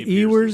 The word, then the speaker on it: Ewers: Ewers, is that how you pronounce it? Quinn Ewers. Yeah, it was quarterback for Texas last year.